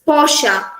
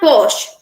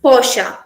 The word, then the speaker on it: Porsche: is this is uh we pronounce it as posh but here the characterisation is porsche it's not posh it's porsche uh in this uh